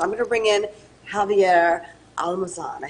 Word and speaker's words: Javier Almazan: So I'm going to bring in Javier Almazan.